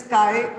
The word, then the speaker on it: chi: X की तरह लगता है, but otherwise it is chi pronounce करते हैं इसको, Greek letter है.